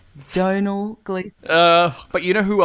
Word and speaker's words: Domhnall: you save toenails Gleeson Donal like tonal but with a D Donal Glee but you know